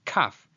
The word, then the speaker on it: kaf: by its first name, kaf, which is a voiceless velar plosive. It makes a k, k, k sound, as in the word kangaroo.